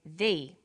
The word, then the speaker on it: the: banana and the bananas there is a difference in pronunciation though when the comes before a vowel sound we say thee the apples so they before vowel sounds and the before consonant sounds let's look at the